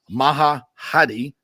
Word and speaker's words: Maha Hadi: Maha Hadi is how you pronounce her name.